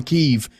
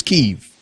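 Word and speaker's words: Kyiv: it's so close to downtown keeve people don't understand how okay it's keiv but brother let me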